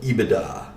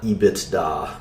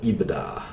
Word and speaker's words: EBITDA: That's how you pronounce it, EBITDA. Not EBITDA, but EBITDA.